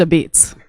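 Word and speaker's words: apizza: A pizza. It's pronounced a beats.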